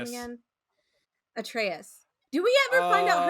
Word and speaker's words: Atreus: Atreus.